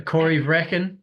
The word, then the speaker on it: Corryvreckan: say it how do you say it a Cory Breen yeah Cory bre yeah I know it's it's